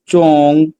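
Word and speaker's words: 中: ZHONG chong, chong is the middle, ZHONG chong is the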